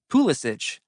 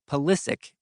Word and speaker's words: Pulisic: In Germany, everyone pronounces Pulisic's last name Pulisic, the way it would be in Croatia, the birthplace of his grandfather Mate.